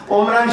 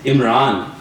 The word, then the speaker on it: Omran: मैं जब समझाता हूँ कि यार नाम इमरान ही है, लेकिन मिडिल ईस्ट में वो स्पेलिंग यूज या ज्यादा एम्फेसिस वो ऐन पे करते हैं, तो इमरान बन जाता है।